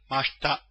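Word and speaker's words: ました: Please note the I in mashita is silent. It's pronounced as if it were mashta.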